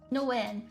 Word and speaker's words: Nguyen: Oh, why do you have an intro for a fucking pronunciation? Nguyen.